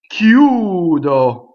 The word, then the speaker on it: chiudo: Chiudo. Chiudo. So CHI is hard.